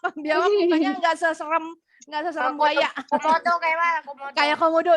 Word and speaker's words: Komodo: Komodo kayak mana? Komodo. Kayak komodo. Ya betul, kalau komodo lebih besar lagi. Betul. Temennya crocodile, saudaranya. Alligator. Alligator, betul. Bacanya alligator. Komodo, bukan kodomo.